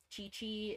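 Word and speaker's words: Qiqi: Chi-Chi is this one right here, like Q-I-Q-I.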